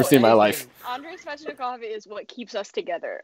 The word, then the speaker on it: Svechnikov: Andrei Svechnikov. I love him. Wow. She pronounced it correctly, too.